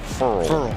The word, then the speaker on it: Ferrell: Did tell us early in the year it's pronounced Ferrell, like referral.